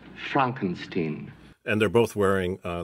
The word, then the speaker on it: Frankenstein: monster and dr frankenstein my name it's pronounced frankenstein and they're both wearing